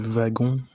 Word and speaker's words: wagon: l'aide sont interchangeables d'ailleurs le wagon s'écrit avec un W mais se prononce comme si c'était un V on reviendra plus en